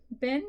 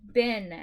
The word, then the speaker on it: been: Bin, children, month, question, there, and year.